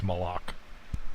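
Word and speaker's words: מלאך: now another one is is Malak or Malak no I think it's malok hard hard k sound at the end because male is a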